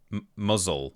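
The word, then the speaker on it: Mousehole: There's a place called Mouse Holes, which I think is pronounced muzzle or something. Muzzles.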